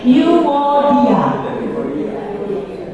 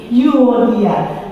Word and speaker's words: Euodia: Unike atau orang Yunani kan Unike, Eureka, berarti Euodia. Mbak ini dulu ya, apa di shaping dulu ke pelajaran Yunani zaman dulu, bacanya gitu, Unike gitu. Eureka, aku melihat, aku menemukan gitu ya. Jadi Euodia.